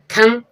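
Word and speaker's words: thumb: डम डम मींस गूंगा जो एम के बाद बी है साइलेंट रहेगी थंब थंब मींस अंगूठा थंब टी एच यू एम बी थंब थंब means अंगूठा एम के बाद बी साइलेंट है टू टू मीन्स मकबरा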